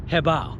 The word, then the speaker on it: HoBao: is actually pronounced h-e-h-b-o-w like if you were to Bow okay so like if you would have so when you put the two together it's called hebao and that's the way